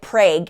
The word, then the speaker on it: Prague: transaction, and then began a 45-minute drive to Prague, Oklahoma from their home in Pottawatomie County. Prague, Oklahoma is a pretty rural area. It was named after Prague by early settlers, but they say it Prague in Oklahoma.